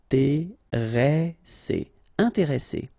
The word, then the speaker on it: intéressé: And the second thing you should remember is, as we've got double S, so double consonants, so identical consonants, after this E, the sound that you should pronounce for this E is really open, so it's E, un, intéressé, intéressé.